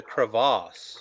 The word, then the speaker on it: crevasse: You just didn't say it right. You got to say the crevasse.